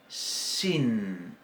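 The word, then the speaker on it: שׁ: Bien, entonces, con el puntito a la derecha se va a pronunciar shin. Y con el puntito a la izquierda se va a pronunciar sin, como nuestra S, igual que la samej.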